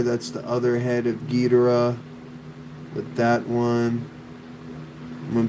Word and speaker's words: Ghidorah: I was like, it's Ghidorah, but I think the technical right way you pronounce it, if we're gonna respect the Japanese people, is Ghidorah, like Gojira, Mosara.